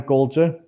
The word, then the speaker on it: Coulter: But people are starting to I don't know if you know Ann Coulter.